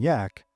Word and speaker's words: Jack: begrudgingly respectful nicknames of Captain Jack, pronounced Captain Yak, and Bravo too much or brave too much.